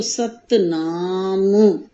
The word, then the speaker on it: सतनाम: है तो इसे हम जब हिंदी में उच्चारण इसका करते हैं जब इसको प्रोनाउंस करते हैं तो सतनाम ऐसे तो म को थोड़ा सा ऐसे हम आगे थोड़ा सा खींचते हुए इस तरह से बोलते हैं लेकिन सत नामु